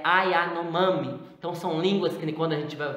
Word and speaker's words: Yanomami: Então, desculpa, eu falei Ayanomai, mas é Ayanomami.